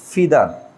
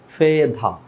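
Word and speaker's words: feather: এটাকে আমরা ফিদার বলি, বাট ব্রিটিশ উচ্চারণ এটাকে ডিরেক্ট বলা হয় ফেধা, ফেধা। এই যে এখানে আর এর উচ্চারণ হবে না, বাট এখানে ফি না হবে, এটা হবে ফেদা, যে আর এর উচ্চারণটা এটা উজ্জ্বল থাকবে। হ্যাঁ, তো এখানে বলতে হবে ফেদা।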